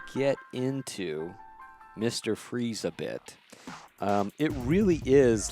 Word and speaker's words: Fries: To be completely transparent with you, I've always called him Victor Freeze, Freeze, and I've always thought the Fries was spelled Fries but translated as Freeze, maybe just Freeze.